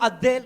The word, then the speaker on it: Abdel: Entonces, quien estaba liderando por aquel entonces era un personaje llamado Abdel, no Abel, sino Abdel Nasser, o Nasser, bueno, como lo quiera pronunciar, un egipcio, el presidente egipcio de aquel entonces de 1967.